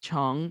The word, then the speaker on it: Jung: Even my last name, it's Jung, and it's pronounced Chung in Korean.